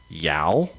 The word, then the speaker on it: Yal: Yao. That's it. It's like Yao Ming, but it's spelled differently.